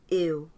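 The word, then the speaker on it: eu: and gets the point so now to say the word i in portuguese i is ew at first it almost sounds like you're saying ew gross right i would avoid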